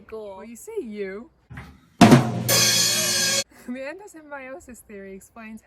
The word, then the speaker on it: endosymbiosis: It's actually pronounced endosymbiosis, endosymbiosis.